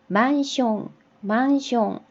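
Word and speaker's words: マンション: 그래서 만숑. 이 숑이라는 발음, 우리 뭐 파운데이션, 콤비네이션 이런 거 많잖아요. 요런 발음을 할 때 요 숑이 많이 들어가요.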